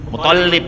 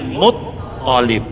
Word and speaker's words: Muttalib: Itu jangan ngomongnya yang benar ya, bukan Abdul Muthalib, ini kita suka salah, tapi Abdul Muthalib yang pakai tasdid toknya bukan lamnya. Kita masih sering ngomong terbalik ya, Muthalib bukan, tapi Muthalib.